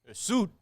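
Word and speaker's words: suet: Soot? No, well, it's spelled S-U-E-T. Suit. That's what I think. I think it's soot.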